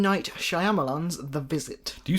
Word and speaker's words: Shyamalan: Night Shyamalan's The Visit.